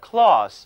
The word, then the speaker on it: cloth: 发音是丝，这就是 cloth，表示用来做衣服的